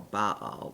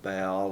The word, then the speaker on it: Baal: Lord and Fidelity to Baal or Baal depending on how you want to pronounce that uh what is uh we get the famous contest between Elijah and the priests of Baal and the people keep